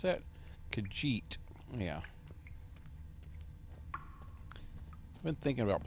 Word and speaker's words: Khajiit: How do you pronounce that? Khajiit.